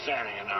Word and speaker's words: Sanning: It was Ray Sanning.